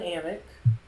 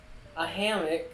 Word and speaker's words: hammock: it so there's also an amick and ayla a hammock yes sorry i went french there for a minute i forgot to pronounce the h there is a water bottle